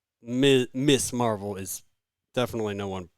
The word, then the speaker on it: Ms.: But that's not how Miss Marvel is. Definitely no one pronounces that as Ms.